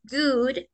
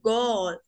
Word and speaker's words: good: 12 del mediodía la la doble o de good suena como una u Entonces no se dice God se dice Good Good morning continuemos Good